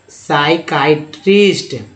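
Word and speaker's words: psychiatrist: तो देखिए pneumonia example था दोनों, पी के बाद एस आ गया है तो सिर्फ पी साइलेंट हो जाएगा। स्यूडो, फिर देखिए पी के बाद एस, साइकाइट्रिस्ट, पी के बाद एस साइकाइट्री, अब देखिए साइक, साइकोथेरेपी, साइकोथेरेपी तो आपने नाम सुना ही होगा।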